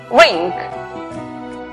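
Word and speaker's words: wring: la pronunciación es wake la palabra torcer que se escribe la w antes de al comienzo es muda por lo tanto la pronunciación es wing la palabra escribir tenemos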